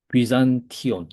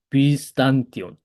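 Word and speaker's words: Βυζάντιον: 또 플로이온, 에스틴, 앤, 비잔티온 이렇게 되죠. 또는 이 제타는 조금 더 옛날 발음으로 하면은 스대, SD가 되기 때문에 비스탄티온, 비스탄티오 이렇게 해도 됩니다. 네, 쉽게 하는 거는 그냥 Z 발음하는 거예요. 비잔티오 이렇게.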